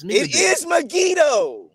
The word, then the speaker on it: Megiddo: says that solomon built nigadoo no it's not megiddo brother it's not it's me it is megiddo it's not brother yes it is like you